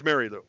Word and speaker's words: Marielou: It looks like Marylou, but it's Marielou.